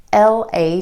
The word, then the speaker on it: later: L-A-T-E-R.